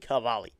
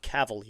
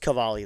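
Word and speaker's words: Cavalli: I know a lot of people do pronounce his name wrong a lot. His name is Cade Cavali if you're wondering, not Cavali as some people say it.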